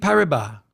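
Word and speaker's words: Paribas: so I know French I think the S is silent BNB pariba looking into crypto custody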